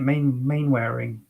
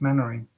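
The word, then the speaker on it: Mainwaring: smell like that it's a bit like mannering isn't it main main wearing it's mannering but uh anyway you'd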